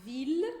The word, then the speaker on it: ville: Então, la ville é com som de L e não com som de I.